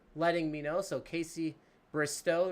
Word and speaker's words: Bristow: That's going to be pronounced Bristow. So Casey Bristow as in tow truck instead of tow.